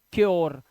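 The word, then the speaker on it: cure: का श्यर श्यर ऐसे ही इसे पढ़ते हैं क्योर तो योर योर क्यर अब कुरे मत पढ़ लेना कुरे इसे सुरे या पुरे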